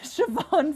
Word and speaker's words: Siobhan: the beloved siobhan oh i said it right siobhan finneran they make me say that name that's